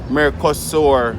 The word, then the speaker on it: Mercosur: a travel document in uh what is mer mercosur region m-e-r-c-o-s-u-r mercosur that i pronounce m-e-r which is the majority of southern